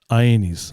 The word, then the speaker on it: Ainis: Ainis. Ainis. Can you repeat after me? Okay, I'm gonna type it out phonetically. Okay, I-E, and then like knees.